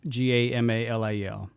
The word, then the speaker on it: Gamaliel: But yeah, no, it's spelled like Paul's teacher in the Sanhedrin, Gamaliel.